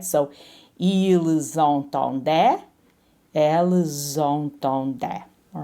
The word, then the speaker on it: ils: And here, notice that I'm doing the liaison because this is a vowel. So even though we don't pronounce the S in il and el plural, as soon as we see that vowel, we sort of connect them with a z sound, right?